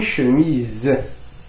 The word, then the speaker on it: chemise: لدينا هنا S ينطق Z لأنه يوجد بين حرفين يلعبان دور الحركات. دو فويل، لا فويل إي إلى فويل أ. إذن S إذا كان وحيدا ينطق زد. une chemise.